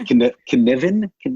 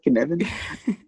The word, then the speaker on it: cynefin: Yeah, I think, and I'm not completely sure that my own pronunciation is great, that it's pronounced cynefin. Yeah, it sort of feels like it's Kevin with a stutter, cynefin.